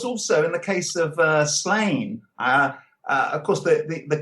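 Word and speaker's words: Sláine: should, of course, be Slaughter, because I put that accent over the A. So, of course, it's like Slaughter, cheers kind of thing.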